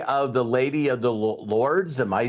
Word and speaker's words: Lourdes: the Lady of the Lords. Am I saying that correctly? But we're Lourdes, I think, is what it's pronounced. Okay. Even though it's spelled that way, but I think it's pronounced Lourdes.